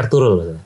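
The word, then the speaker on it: Ertuğrul: Tulisannya Ertugrul, bacanya Ertugrul. G-nya nggak dibaca, Ertugrul.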